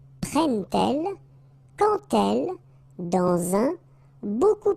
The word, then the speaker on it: prennent-elles: But then here, prennent-elles, okay? So you get your T and then prennent-elles, alright? So prend-il, remember, D pronounced like T, and here, prennent-elles, alright?